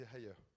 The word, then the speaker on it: Haier: Donc la prononciation c'est Haier. On va le dire une fois et puis après je vais le prononcer à la française, ça sera très bien.